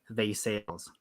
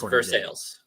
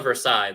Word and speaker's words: Versailles: apparently has a town called versailes but it's pronounced V sales it's versales the city is actually called versales Kentucky yes if you call it Versailles they will they will chew